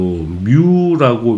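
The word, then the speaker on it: μ: 그리스 문자로 뮤라고 읽는 거고, 뮤라고. 단위로 쓸 때는 마이크로로 읽는 겁니다. 그죠? 원래 기호는 뮤인데 단위로 쓸 때는 마이크로라고 읽는 거야.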